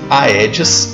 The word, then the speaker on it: Aedes: Em latim, a E se pronuncia E. Por isso se diz Egipte. O mesmo não vale para Aedes, simplesmente porque aí o A é prefixo de negação, como em desagradável. Por isso pronuncia-se Aedes aegypti.